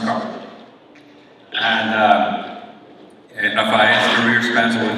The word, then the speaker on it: Kearney: It's pronounced Carter.